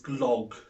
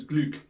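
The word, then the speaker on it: glögg: And so, yeah, we're going to crack on with the first drink, which is our Odin's Glog, or Odin's Gluck, as you should pronounce it.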